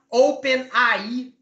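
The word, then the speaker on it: OpenAI: GPT desenvolvido pela Open como você pronuncia em português a gente também falaria Open aí mas não aqui é mais comum Open mesmo tá bom pode falar assim O que é o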